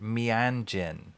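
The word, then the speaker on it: Meanjin: It's pronounced Mianjin.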